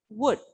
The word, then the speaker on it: would: Don't pronounce it as would, children. The letter L remains silent in this word. So we have to pronounce it like would.